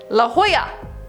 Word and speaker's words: La Jolla: flash one 22 commented la jolla sie is pronounced la jolla thank you i'm really